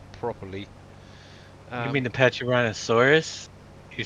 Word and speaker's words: Pachyrhinosaurus: No, for the freaking dinosaurs in the Ark, so actually pronunciate them properly. You mean Um, the Pachyrhinosaurus? You said that one wrong too. Pachyrhinosaurus.